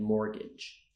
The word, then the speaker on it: mortgage: debt knee subtle knife thumb known ballet and mortgage did you get all of those correct so